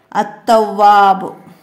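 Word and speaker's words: التواب: താവ് കൊണ്ട് തവ്വാബ്, തവ്വാബ്, തവ്വാബ് എന്നത് എഴുതുമ്പം അൽ എന്ന് ചേർത്ത് എഴുതുക. പക്ഷെ ഉച്ചാരണത്തിൽ അത്തവ്വാബ്, അത്തവ്വാബ്, നമ്മൾ അൽ എന്ന ഉച്ചാരണം വരില്ല.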